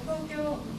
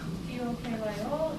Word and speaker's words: Tokyo: It's spelled T-O-K-Y-O in English, but actually first O and the last are long, so I added O. Tokyo. So both sounds are twice as long. Tokyo, no pitch fall.